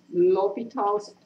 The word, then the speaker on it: L'Hopital: L'Hopital's, H is silent.